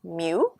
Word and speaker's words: mu: If we're trying to get the mean of a population, that is actually called mu. That's what this symbol is, and this is how you pronounce it, mu.